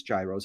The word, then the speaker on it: gyros: in milwaukee how many euros now some of you might pronounce them as gyros how many euros can